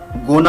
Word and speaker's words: gonna: Going to को English में, spoken English में गोना प्रोनाउंस करते हैं।